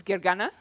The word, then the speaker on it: Gergana: there let me introduce myself my name is Gary gana but I usually go by because that's a little bit easier to pronounce and I was one of the people